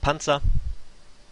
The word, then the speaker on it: Panzer: teams such as Panzer also a German word actually pronounced Panza um they were using